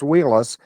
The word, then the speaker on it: Wheeless: I know it's pronounced Wheelis, and there's a reason why I'm asking. It's Wheeless.